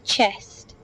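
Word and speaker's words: חסד: the whole prophecy it is the Hebrew word chest the CH is pronounced like the CH in lock C the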